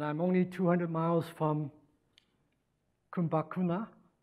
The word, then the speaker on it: Kumbakonam: So I've traveled all this way, and I'm only 200 miles from Kumbakuna. Is that how you pronounce it? Kumbakonam. So of course I have to talk about Ramanujan.